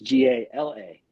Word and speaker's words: Galade: A lot of people get my name wrong. They just add that, take out the A like the air freshener. So it's GALADE.